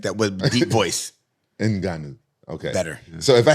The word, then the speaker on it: Ngannou: oh these year this how I thought you pronounced it enanu oh I'm not even saying it right enanu oh my bad like that was deep voice enanu okay better so if I had don't be